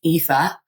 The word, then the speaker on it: Aoife: Um, the letters A, O, I together are pronounced E. So it's EHA.